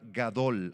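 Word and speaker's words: גדול: segunda a saaba y grande es la palabra gadol así como suena gadol sabag gadol sabag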